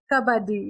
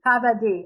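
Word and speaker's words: kabaddi: yes that's it how do you say it kabati kabadi yeah kabadi the blindfold the closest game we have to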